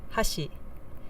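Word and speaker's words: 箸: pitch accent example one Hashi meaning chopsticks with an accent on the first Mora Hashi meaning Bridge with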